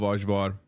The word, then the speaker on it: ajvar: Dude, I love ajvar. And for the chatters correcting me on the pronunciation, that's how you say it in Turkish.